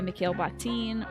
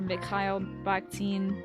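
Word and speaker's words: Mikhail Bakhtin: in his world by male baktine or myle baktine however you like to pronounce it. I'll probably be saying male for the rest of the day because that's just kind of where my brain's at right now.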